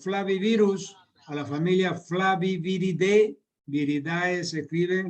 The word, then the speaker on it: viridae: Viridae se escribe, la terminación AE en latín se pronuncia como E.